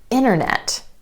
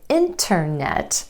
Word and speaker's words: internet: Vanishing T after the N sound in words like internet. So instead of internet, you'll hear a native speaker say internet.